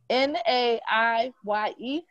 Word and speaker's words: Naiye: So I'm gonna just spell your name and please pronounce it for me. N-A-I-Y-E.